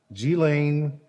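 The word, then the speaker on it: Ghislaine: it again i want to make sure i pronounce her name correctly g-lane maxwell is now in federal custody number one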